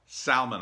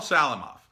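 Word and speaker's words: Salamoff: nice comment from Paul Salman ah yeah I'm pronouncing that wrong Salim ah Salim off Paul Salim off he is the writer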